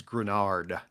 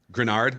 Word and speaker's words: Greenard: uh point of reference it's grenard grenard okay yep grenard there you go although